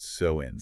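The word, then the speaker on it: Samhain: They celebrated a festival called Sam Hane. It's s a m h a i n but pronounced soen.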